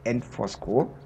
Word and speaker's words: Antvorskov: Schloss und Kirchenruine bezeichnet ich hoffe ich habe den Namen der Ruine forco richtig ausgesprochen mein dänische ist nicht das Beste und ich wollte kein Fehler machen deswegen habe ich meinen meine übersetzera mal gefragt wie man es ausspricht und sie sagte forc und so habe ich es gemacht geschrieben wird es ja anosk und ich hätte es genauso auch ausgesprochen aber wenn die App